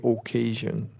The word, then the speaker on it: occasion: going to bewah here because this is a primary stressed syllable so because of the s i o n occasion occasion occasion yeah